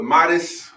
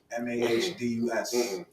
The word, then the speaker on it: Modest: I heard So we are on with Modest Music, not MODEST. MAHDUS. We black folks. It ain't MODEST.